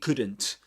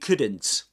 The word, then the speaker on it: couldn't: It couldn't. Then you've got um you remember that this is a a silent L. You don't say cool. Couldn't. Okay. This is couldn't. You never pronounce the L there.